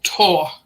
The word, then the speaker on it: Thor: of our culture and it is tour hmm they really want everybody to say it wrong yeah i just think it stems from the icelandic people because they um spell it with a th and we don't do